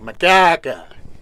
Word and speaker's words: Makarka: That's the way my mom would do it, Makarka. And he couldn't pronounce Makarka Point.